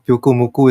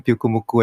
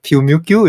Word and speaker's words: Pyukumuku: a Japanese player playing Pyukumuku and then he totally forgot how to pronounce it. So he said like Pyumukyu.